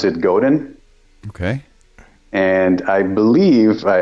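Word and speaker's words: Godin: would be more like Goden Goden yeah Goden without the D at the end you know but I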